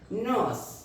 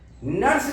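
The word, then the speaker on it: nurse: इसमें छोटा आ और रा हाफ साइलेंट है रा स आ क स सर नहीं रा पूरा नहीं निकलना है just like this N यू आर एस ई नस नस नर्स नहीं पता चला हमने रा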